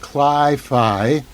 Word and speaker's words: cli-fi: a compelling slice of cli phi which is actually short for climate fiction rhymes with sci-fi so this is actually